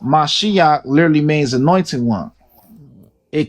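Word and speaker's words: משיח: says in the Torah and the Tanakh commonly pronounced Mashiach literally means anointed one.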